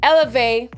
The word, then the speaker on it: Élevey: sounds better than elever i pronounce it elevate just like the french way of saying it and i decided to